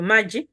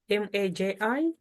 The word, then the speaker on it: Maji: I said in this video, Maji, water, M-A-J-I, or M-R-J-E. That's how we'll spell it in Chitumbuka.